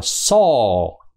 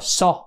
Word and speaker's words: sore: dài hai chấm đó nó đọc là so so rõ ràng mà nó kéo dài thành hai nốt nha nó không đọc là so so ngắn ngủ như Việt Nam mình nha so đó mình